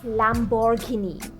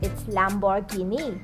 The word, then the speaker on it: Lamborghini: It's often mispronounced as Lamborghini. Lamborghini, but it's Lamborghini. Lamborghini, not Lamborghini.